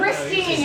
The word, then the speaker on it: Christine: Am I saying it wrong? Christine, you're correct. Okay. Yeah, it's Christine.